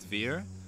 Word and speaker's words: Dvir: name so my name my Israeli name is fear but people have our time saying so i'll